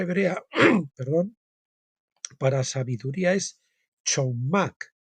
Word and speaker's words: chokmah: La palabra hebrea, perdón, para sabiduría es chokmah, C-H-O-K-M-A-H, chokmah. Se escribe chet, recinto, valla, quiere decir chet, y kaf, mano abierta, y men, agua, inmensidad y caos.